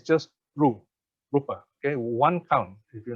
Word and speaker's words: rūpa: a very important party short and long short one crown long two counts rupa so if you don't pronounce it properly in this way it can mean different things okay so the carrot